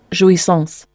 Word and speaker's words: Jouissance: Jouissance. Jouissance. Jouissance. Jouissance is your word of the day from hear it, you know it's originating out of France. It's a French word, jouissance, and it's a